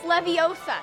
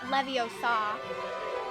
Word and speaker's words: Leviosa: For the last time, you're saying it wrong. It's Leviosa, not Leviosa.